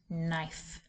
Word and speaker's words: knife: When the letters KN are together in words that are of Anglo-Saxon Old English origin, they are pronounced N, as in kneel, night, and knife.